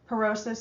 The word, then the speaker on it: porosis: again osteo is bone perosis it sounds like porous did not spell that